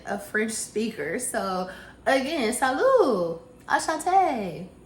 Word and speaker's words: salut: my French on y'all salute no let's start over the tea is silent Sal Asante Sal Asante J